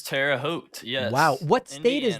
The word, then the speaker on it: Terre Haute: how to say this is it terra haute it is terre haute yes wow what state